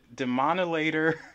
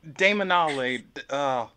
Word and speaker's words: Daemonolater: it is already the dimana later Brooke Brooke how do you say that Damon all later Damon ollie I can't say it but anyway yes